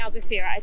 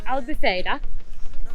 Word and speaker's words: Albufeira: towards the beach in I was saying it wrong yesterday I'm saying Albufeira I'll be fader um so heading towards